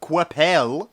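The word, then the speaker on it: Coipel: himself and drawn by Olivier Qu'Appelle found out he was French that is the exact pronunciation of his name to the T okay Corp ELLs are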